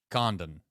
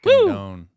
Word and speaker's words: Condon: Bazzana and Condon, right? Condon. Yep. Bingo. Not Condon.